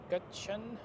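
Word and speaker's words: Gökçen: Not gin I know but uh gachan somebody has written it in the live chat earlier today.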